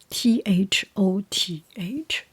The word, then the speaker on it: Thoth: T H O T H in English pronunciation is called Thoth.